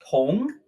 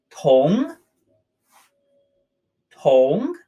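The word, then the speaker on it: 同: The first character here is pronounced tong, which is that box with an e and a ko inside. Tong, tong, and it means similar or alike.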